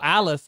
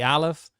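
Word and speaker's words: Aleph: as I was saying so Alf is the first letter of the Hebrew alphabet and it is a silent letter like if you want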